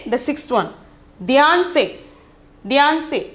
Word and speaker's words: ध्यान से: Dhyan se, pronunciation is dhyan se.